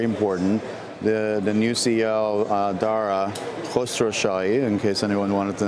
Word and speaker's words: Dara Khosrowshahi: role that's very important the the new CEO darah cluster Shaw in case anyone wanted to know how to pronounce it is a fellow Iranian American and